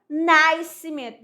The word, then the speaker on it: Nascimento: Aí a pessoa, meu nome é Nascimento. Não, é Nascimento. Esse Szinho aí não é pronunciado.